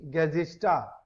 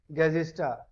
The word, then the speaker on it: Gesichter: Plural form of this, the Gesichter. The Gesichter. Remember, whenever R is at the end, whenever R is at the end of a German word, it will pronounce like A. So, the Gesichter.